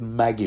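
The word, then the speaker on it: Maggy: magic the the dye the soup die this Maggie yeah why don't why don't we pronounce it Maggie from now on for reasons that will become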